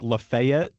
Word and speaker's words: Lafayette: Is the is one of them like Lefayet? Please tell me one of them is Lefayet. It is. It is. Which one? Yes. Alabama and Arkansas. It's laet. It's laet.